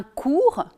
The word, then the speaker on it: cours: En ce qui concerne la prononciation des finales, il faut bien retenir que le T et le S final ne sont en général pas prononcés en français, sauf en cas de liaison, mais on le verra tout à l'heure.